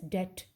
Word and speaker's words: debt: we are in debt debt and it is pronounced as debt okay so one should tolerate this test this